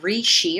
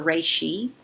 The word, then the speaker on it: reishi: a really good blend Rishi or reishi however you want to pronounce it is a mushroom that